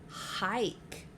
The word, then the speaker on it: hike: someone going on a hike. Finger stretch. Hike. I wonder why the I is saying its name. That's right. It's because there's a silent E on the end that makes the I say I.